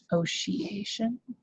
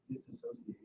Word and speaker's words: dissociation: Disassociate. I know, but it's spelled weird. I think, let me just look it up. Dissociation. It's not it's dissociation. Dissociation. There's 2 S's and there's an O.